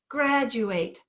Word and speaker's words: graduate: this one graduate graduate where is the stress graduate it's on the first syllable graduate what happens when